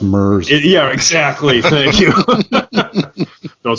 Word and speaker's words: Merz: I don't even know if I'm pronouncing that correctly, and I'm really dating myself here, but it's pronounced Merz.